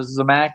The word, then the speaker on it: Zamac: Um, but this one is a Zmac. Zac or Zamac or I've heard it pronounced a few different ways or the unpainted cars